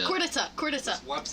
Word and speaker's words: Khortytsa: Khortytsa. You gotta have more Khortytsa. Khortytsa. Khortytsa. Khortytsa. Yeah. Khortytsa. So it's like there's like a D instead of a T when you pronounce it.